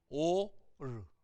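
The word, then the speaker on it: אור: 레이시 알 발음이거든요. 읽어보시죠 한번. 소리 안 나잖아요. 오르, 오르.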